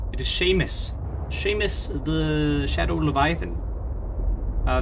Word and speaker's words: Seamus: i have given him a name it is sheamus sheamus the shadow leviathan uh this shame is spelled s-e-a-m-u-s don't you think it might be pronounced seamus but no experience sheamus and yeah well so i'll start constructing your